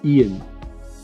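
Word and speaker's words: Eoin: Uh, it was you pronounce it. Sorry. In In Scotland, E O I N is pronounced Ian cuz we used to have a famous football player called Ian Jazz. I will try and remember to pronounce it as, by the way.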